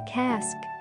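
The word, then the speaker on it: casque: the hornbills helmet is called a cask rhymes with masks like ear tufts and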